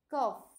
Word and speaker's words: cough: La F, cough. Este sonido, esta, la G con la H es la que se pronuncia como una F al final.